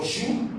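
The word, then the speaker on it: joug: un ordre prenez mon jour sur vous mant on va dire mais c'est quoi un jou c'est vrai qu'à la fin il y a un mais ça se prononce pas c'est quoi un jour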